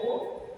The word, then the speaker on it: ओम: सबसे बड़ा महत्व है ओम का है आ ओ और मा तीन शब्दों से मिलके बना हुआ है ओम तब इसका उच्चारण करते तो पहले आ फिर उ तीन जो शब्द